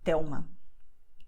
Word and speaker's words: Telma: It sounds very strange, but the fact is that you're going to pronounce a consonant as if it were a vowel, which is why you say Miguel Thelma.